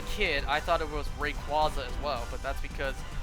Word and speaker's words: Rayquaza: say it that way it's not rayquaza it's rayquaza you know like quasar rayquaza the anime never said rayquaza i mean yes as a kid i thought it was rayquaza as well but that's